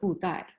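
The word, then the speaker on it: Budai: Hao Dai is a Japanese pronunciation. In Chinese, it is called Bu Dai.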